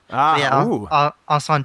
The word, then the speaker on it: Incendies: Kevin, did I do a decent pronunciation of that? I think it's Denis Villeneuve. Incendies is correct, yes.